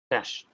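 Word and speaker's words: cache: spelling is this but I know how to pronounce this cash this is pronounced in cash there's no other way it is not catchy or something okay it's cash okay cach files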